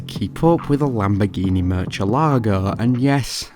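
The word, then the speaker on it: Murciélago: up with a Lamborghini Murcielago (and yes, that’s how I pronounce the word, not mercellago).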